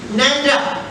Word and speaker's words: Nanda: को मिले, now he doesn't know how to pronounce Nanda, which happens to be my surname, Nanda.